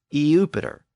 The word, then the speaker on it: Iupiter: And Jupiter was originally spelled Iupiter, and it was pronounced Eupiter. But again, it slurred into Jupiter.